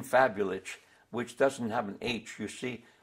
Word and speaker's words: Fabulich: be an SH sound so our name was fabulous with a see those fabulous who went to